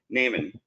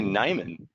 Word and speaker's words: Neiman: So joining me is, and our presenter today is Neiman, or Neiman. I always say it wrong. Is it Neiman or Neiman? It's actually Nyman. Nyman.